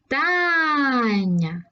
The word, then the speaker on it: читання: це слово поїхали чи читання наголос падає на другий склад завдання наголос падає знову